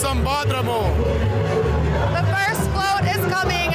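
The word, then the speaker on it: Sambódromo: It's pronounced Sambadromo.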